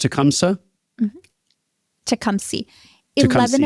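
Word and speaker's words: Tecumseh: It's pronounced Tecumsa.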